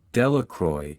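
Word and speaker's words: Delacroix: Jones and Dicky Delroy the villagers pronounced this name delacroy eventually made a great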